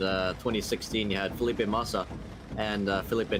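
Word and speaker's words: Massa: 2016, you had Filipe Masa and Filipe Nasser, but the way the British commentators would pronounce that is Masser and Nasser.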